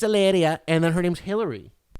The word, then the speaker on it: Hilaria: i'm not just saying she doesn't even say hilaria she says eleria eleria it's spelled hilaria but she says it's alleria and then her name's